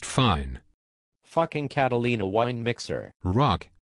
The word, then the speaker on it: Roc: Rock. R-O-C. Oh. The C is silent.